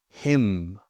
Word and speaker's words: hymn: Silent N often comes after an M. Autumn, column, hymn.